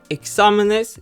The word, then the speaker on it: exámenes: Exámenes should have an accent mark since it ends with S, meaning again that the second to last syllable should be stressed.